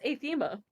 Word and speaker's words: Atha: how's her name pronounced atha like Aether and atha AA really yeah it's atha she's never corrected me